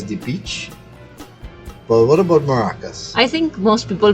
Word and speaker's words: Maracas: a native Spanish speaker I would say Maracas but I try to understand obviously that when you speak a language for very long in this case English you won't be able to pronounce it exactly how a Spanish person will pronounce it just like I have